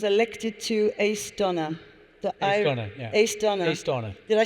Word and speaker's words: Aosdána: Aosdána.